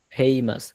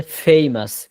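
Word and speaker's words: famous: নট ফেইমাস উচ্চারণ হবে ফেইমাস ফেইমাস যারা আরবি বোঝেন আরবির ফা ফাটা যেখান থেকে উচ্চারণ হয় এইযে নিচের ঠোটের আগা থেকে ফা ভিটাও হচ্ছে এফ এই দুইটা উচ্চারণ হবে নিচের ঠোটের এখান থেকে ফেইমাস ফেইমাস হ্যা আচ্ছা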